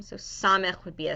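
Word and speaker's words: סמך: Samak. Nice. So it's pronounced Okay. Samech.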